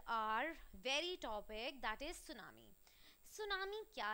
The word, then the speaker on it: tsunami: अब इसमें जो सू होता है ना, इसमें टी इज साइलेंट. सुनामी में जो सू हमने